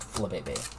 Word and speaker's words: Flabébé: I'm pretty sure it's pronounced Flabébé.